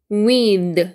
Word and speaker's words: with: problem 이렇게 되죠 그다음에 with th 돼지꼬리 발음 w i we 연결해서 한 변에 with 이렇게다는 거 그 얘도 한